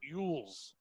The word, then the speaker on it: Elwes: It's Carrie, but it's Elwes, like Yules. Huh. His real name is Ivan Simon Carey Yules.